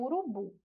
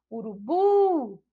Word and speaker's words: urubu: Agora a gente vai ver o urubu. Vamos lá? Urubu. Olhem só. Urubu. A gente já percebe, então, que a sílaba tônica é a sílaba bu. E que é justamente a última sílaba.